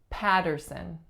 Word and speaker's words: Patterson: next one we have Patterson Patterson three syllables the strongest is again the first the first vowel sound we have is ah then we have a flap going into Earth patter patter and our